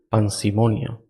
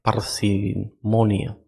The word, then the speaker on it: parsimonia: así principio ya de panimon s parsimonia creo que no lo pronuncié tan mal yo dije pan verdad es parsimonia también conocido como la